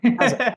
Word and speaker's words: Gaza: of, I think you called him Gaza, right? Did I say that correctly? Yeah. Yes, yeah. Gaza. That's great.